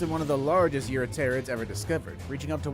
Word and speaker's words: Eurypterid: I don't exactly blame you for thinking, hey, maybe the P is silent on this one like it is on Pterosaur, but no, it is Eurypterid.